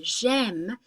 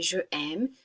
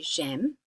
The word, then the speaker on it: j'aime: And you've probably already heard say j'aime. We don't say je aime. To avoid that funny sound, we say j'aime.